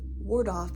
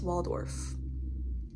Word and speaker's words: Waldorf: wrong the entire time I kept saying ward off it's Waldorf.